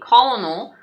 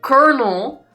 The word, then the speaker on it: colonel: colel Colonel Sanders doll I forgot you guys pronounce this word that should obviously be colonal as kernel which should not even be spelled this way no I'm sorry